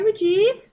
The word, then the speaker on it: Mooji: alive on the Tracy L Clarke show hi Mooji good did I pronounce your name correctly you sure did Oh